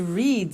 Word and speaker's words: read: Now, read and read are written exactly the same, but the pronunciation changes in the past tense. Read, read. Say, said.